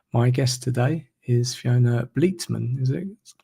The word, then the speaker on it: Bleetman: So my guest today is Fiona Bleman. Is it correct pronunciation of your surname?